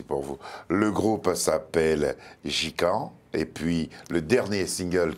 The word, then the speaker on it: Ji Kann: Jicanne pour dire jus de canne.